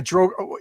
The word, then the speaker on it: drow: Yeah, I say drow, but a lot of people say dro.